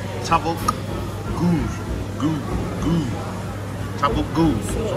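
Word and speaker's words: tavuk göğüs: Tabuk goo. Something like that. It's spelled Tabuk Gogus, but you don't pronounce the middle G.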